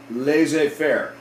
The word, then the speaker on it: laissez-faire: let's let's do that it's called this is pronounced laissez faire smith's philosophy of freeing merchants and traders from